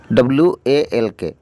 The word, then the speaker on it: walk: Should, SHOULD, should, এখানেও should, এখানেও এল এর উচ্চারণ হবে না। অক, অক, WALK, অক, WALK, অক।